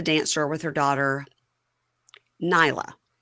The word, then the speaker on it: Nayla: Now, Tia is at a dance store with her daughter, Nyla. But it's spelled Nayla, but she says Nyla.